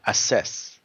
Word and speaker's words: assess: or progress okay assess assess is in the second syllable so assess okay assess assess okay